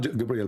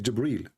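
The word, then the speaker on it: جبريل: here he arrived gabriel it's not gabriel by the way it's jibril even muhammad he got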